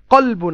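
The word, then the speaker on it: قلب: কলবুন আছে, আমরা বাঙালিরা কালবুন কয়াকার কা বলে অভ্যস্ত, তা আমরা এভাবে যদি বলি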